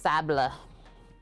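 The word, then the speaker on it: sablé: Pronounced sable. If we were being proper French folk.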